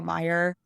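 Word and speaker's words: Meijer: who are from Michigan Meyer is spelled like the uh chain of stores in Michigan a fun little thing that only Michigan people will understand Meer is spelled m e i j r um yes fantastic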